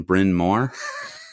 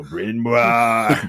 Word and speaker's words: Bryn Mawr: and he lived on Bryn Mawr. No way. Yeah. Brian Moore from Bryn Mawr. Yeah. And if you look at the spelling, like phonetically, it looks like Brian Moore.